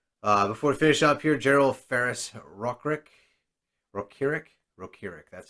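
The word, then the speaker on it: General Ferrous Rokiric: So, before we finish up here, General Ferris Rokirik, that's how it's pronounced, is one of the last rares we've got.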